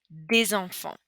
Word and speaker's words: des enfants: une étudiante, des filles, des enfants. Okay, so here we have that N sound. Here, des, the S is normally silent, but here we're going to pronounce it as a little Z sound.